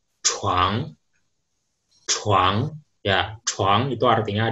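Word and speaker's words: 床: Oke, kosakata berikutnya ini kalau di bahasa Mandarin cara bacanya chuang, chuang, ya chuang itu artinya adalah kasur atau ranjang ya, chuang, ranjang. Di bahasa Jepang, Kalau di bahasa Jepang, cara bacanya yuka.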